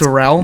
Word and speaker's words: mozzarella: You don't have to say it with the accent. Just read it. Speak it. Mozzarella. If you say it like that, no one gets mad at you. If you say mozzarella, It's because where's the rest of the letters?